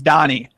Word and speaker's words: Dani: I got man Danny Donnie Donnie Donnie I appreciate coming someone called you Daniel are they on a podcaster like Oh Danny I was like no his name's Donnie I gotta let you